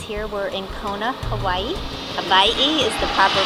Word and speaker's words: Hawaii: Hawaii is the proper pronunciation.